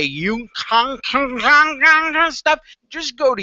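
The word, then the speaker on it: Uniik: you know me dominic i can hardly pronounce my name i would say you con stuff just go to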